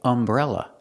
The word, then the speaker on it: umbrella: The letter U has a short sound, Example, umbrella. Is a vowel sound, so we say an, pronounced an umbrella.